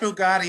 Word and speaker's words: Bugatti: We're talking about the Bugattis, and we're talking about the Rolls Royces and the Bentleys. Absolutely, yes. oh, that Bugatti in front of Bichon store.